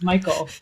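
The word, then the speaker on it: Mikeal: Michael I I always I always pronounce it K but I'm like that's not right I'm pretty sure it's the strangest spelling of Michael that there is m i k e a l it's just Michael yeah it's like fun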